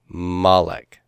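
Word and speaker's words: מָלֶךְ: So, melek with the accent mark, it could become malek. Malek.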